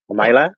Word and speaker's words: Mila: igr of castle mila do you pronounce it mila or myla yeah me left me a little bit because the poem was called ruslan and ludmilla and the the miller come from where's london but i say mila just because that's how i pronounced that word but i could say